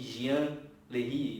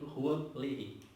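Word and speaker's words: Jean Larrey: daí ele ficou apenas Dominique Juan lerry ou Dominique Jean lerry nós vamos nós brasileiros podemos dizer essa pronúncia tá mas é Dominique Juan lry ok depois disso dele ter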